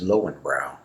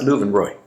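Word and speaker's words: Löwenbräu: The first tent that we went to was the Luvenroy, and you might know that in the US as Lowenbrow, but in Germany, they pronounce that Luvenroy, Lion's Beer.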